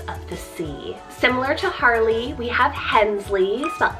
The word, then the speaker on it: Harley: It's Harley, spelled H-A-R-L-E-Y, Harley, and this one means the long field.